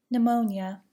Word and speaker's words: pneumonia: Do not pronounce the P in the following words: pneumonia, psychiatrist, psychic, psychology, psychotic, receipt.